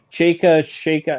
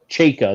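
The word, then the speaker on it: Chayka: It's Chaika? Shaka. It wasn't Chaka the way I thought it would be.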